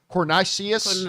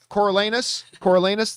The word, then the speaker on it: Coriolanus: That was going to focus on a young, I can't remember how you pronounce his name, Cornelius. Coriolanus.